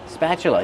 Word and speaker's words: spatula: Use the short a sound like black cat. Spa plus the ch sound like chicken. That's right. The t is pronounced with the chch sound. spat. Spatula. Then use the closed sound uh like cup and up.